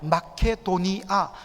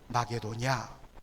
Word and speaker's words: 마케도니아: 않습니까 그런데 성경은 이달리아 우리가 마케도니아 한국 사람들 정하게 발음을 합니다 그런데 마게도니아 좀 너무 아쉬워요 이제 한사람들이음을 때문에 이제